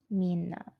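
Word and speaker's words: みんな: that's um Mina and you would think this is only two syllables you know mean and not but in Japanese there are actually three syllables so it is I'll separate it like this it is me know so there are actually three characters when you write this and that's because we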